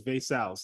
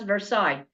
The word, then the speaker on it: Vaicels: just gonna let you not Vaicels, it's Vaicels. I'm just gonna let you know. And that's the whole idea of this whole thing. Oh, yeah. Did I say it correctly? Just to make sure. It's Vaicels, yeah. Vaicels. Oh, you'd be surprised. I don't know how people come. It's Vaicels, and people call us Versailles.